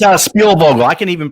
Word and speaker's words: Spielvogel: Is it Splackovagel? It's Spielvogel. I can even pronounce it sometimes.